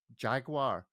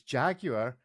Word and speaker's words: Jaguar: Well, it seems to have failed at its first purpose, Ariel, by the mere fact that you pronounced it Jaguar, because it's Jaguar, and the whole logo is designed around the